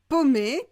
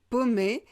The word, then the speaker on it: paumé: Un autre mot, c'est le mot paumé qui veut dire perdu. Vous pouvez l'écrire au masculin ou au féminin avec deux E, mais la prononciation est la même. Je suis paumé, je suis perdu.